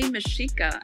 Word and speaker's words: Mexica: but the aztecs actually called themselves the mashika and i say mishika and it's actually spelled